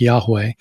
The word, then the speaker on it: Yahweh: In English, it'd be YHWH, and I'm not sure how it's pronounced. We think it's something like Yahweh.